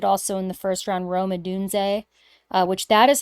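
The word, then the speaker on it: Rome Odunze: mentioned they drafted also in the first round romad dun uh which that is how you pronounce his name yes I just want to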